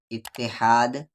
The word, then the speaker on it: اتحاد: اور یہ 5 ہے۔ اتحاد، یہاں الف پہ زیر ہے اور تا پہ تشدید جو کہ چھپا ہوا ہے۔ اتحاد کی طاقت، طاقت